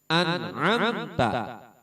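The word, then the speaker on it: أنعمت: Jelas bagaimana? Anamta. Annnya bukan amnya tapi anamta.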